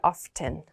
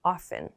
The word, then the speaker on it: often: And when we pronounce this, at least in American English, we don't pronounce this T. We don't say often. Often. We usually pronounce it as often.